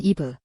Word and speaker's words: 하와: 성경 창세기 3장 20절에 보면 아담이 자기 아내의 이름을 하와라고 부르는데 영어 성경에서는 입으라고 기록되어 있습니다.이 차이는 번역 경로 때문입니다. 히브리어 이름이 각 언어로 번역되면서 다르게 발음된 것입니다.